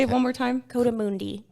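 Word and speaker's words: coatimundi: Cotamundi. Cotamundi.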